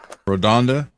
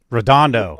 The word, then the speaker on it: Redondo: I got relatives that live at Redonda Beach, Redondo. Redondo. and then We're both Redondo, man. Get it right.